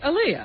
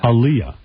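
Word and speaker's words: Aaliyah: How you say it? Aliyah. Aliyah. I think it's Aliyah.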